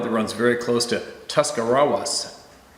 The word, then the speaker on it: Tuscarawas: It's a stretch of road that runs very close to Tuscarawas, pronounced Tuscarawas River.